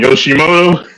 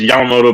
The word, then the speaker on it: Yamamoto: He used to call him Yoshimoto Yomimoto. instead of Yeah. it's Yamamoto, but he used to call me Yoshimoto.